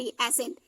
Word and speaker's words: ascent: ASCENT, एसेंट। साइलेंट क्या हो रहा है?